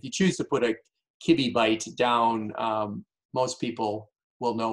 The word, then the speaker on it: kibibyte: And if you choose to put a kibby byte down, most people will know what you're talking about, but not all of them.